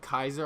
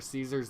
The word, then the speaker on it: Caesar: Fallout New Vegas, but Kaiser or Caesar's Legion, depending on how you want to pronounce it.